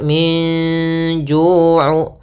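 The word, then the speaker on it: من جوع: Di sini ada bacaan ikhfa, yaitu adanya nun sukun bertemu dengan huruf jim. Maka cara membacanya samarkan antara baina izhar wal idgham. Jadi membaca ikhfa itu di antara izhar dan idgham. Kalau izhar nunnya jelas, kalau idgham nunnya hilang, maka ikhfa di antara keduanya.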